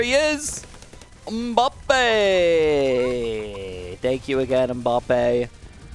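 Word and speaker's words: Mbappé: is thank you again ambape uh or mbappe i think mbappe people are telling me that's how you actually pronounce it but i like bobby better if that's a review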